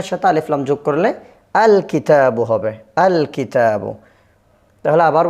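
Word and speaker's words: الكتابُ: আল কিতাবু। আল কিতাবু। এই লামটা কি হবে? আলিফ লাম এটা আলাদাভাবে উচ্চারিত হবে। আল কিতাবু হবে। কেমন? কিতাবুনের সাথে আলিফ লাম যোগ করলে আল কিতাবু হবে।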